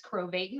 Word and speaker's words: Krovatin: guest is mr crovatin rhymes with satan but he's definitely more